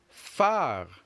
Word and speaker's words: phare: Phare. Phare. Phare. Great. So when you're pronouncing this last word far, it's like you're saying far in English, F-A-R, far away.